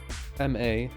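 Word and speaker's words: マット: So that means it is M-A-T-T-O. Matto. So you're pronouncing math, but then you're also adding the to from to here.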